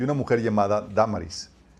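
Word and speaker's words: Dámaris: Entre ellos estaban Dioniso, que era el miembro del aerópago, y una mujer llamada Damaris y otros más. Damaris con acento en la primera A.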